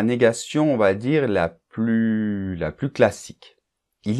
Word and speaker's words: plus: exemple Jean ne regarde plus la télé alors on ne prononce pas le S de plus hein d'accord alors qu'est-ce